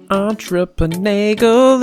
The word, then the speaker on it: Entreprenagle: Entreprenagle, it rhymes with bagel.